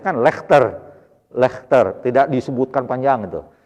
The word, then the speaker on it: Leicester: Inggris Ada Bahasa Inggris itu contoh misalkan lecester bacanya kan Leicester Leicester tidak disebutkan panjang itu jadi kadang ada